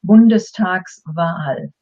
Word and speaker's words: Bundestagswahl: If we didn't have the S, it would be pronounced as two words. Then it would be Bundestag, and you automatically take a breather, Wahl. By adding the S, you can actually say it as one word, Bundestagswahl.